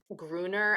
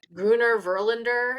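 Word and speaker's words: Grüner Veltliner: I was in Austria over the summer and I fell in love with Gruner. I'm saying it wrong. Okay. It's Gruner Verlander.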